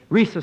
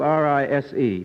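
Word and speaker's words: Risë: Your first name, it's spelled R-I-S-E. Tell me, do people ever mispronounce it? Yes, they certainly do. When I first started making radio appearances, the commentator would say, and now we give you Rise Stevens. And then we have the Chinese pronunciation. Chinese? Mm-hmm. Rice Stevens. And there's also Rizzy and Risey and Rize.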